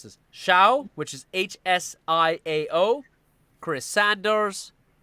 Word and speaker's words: Hsiao: Dan-Souci, based on a story by, and then the screenplays were by Rita, I'm going to mispronounce this, Shao, which is Hsiao, Chris Sanders, Philip Lezebnik, Raymond Singer, Eugenia Bostwick Singer.